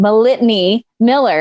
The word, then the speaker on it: Malitany Miller: I'm going to say it wrong. Malitany Miller. Is that right? Mm-hmm. Yes, that's right.